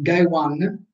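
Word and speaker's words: 外腕: Poi dipende, ripeto, posso parlare del braccio, Soto, braccio, Uchi, ma in quel caso parlerò di Gai Wan, Soto si legge Gai, Ude Wan, Gai Wan, e Nai Wan, Uchi si legge Nai, e quindi sarà riferito al braccio.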